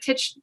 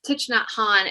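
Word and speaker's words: Thích Nhất Hạnh: But I agree with you, and really some of like Tich, gosh, I always mispronounce his name, but it's Thich Nhat Hanh, and he writes about mindfulness, and he has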